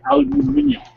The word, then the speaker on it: aluminium: Now for a little selection of polished aluminum. Or as the British would say, aluminium.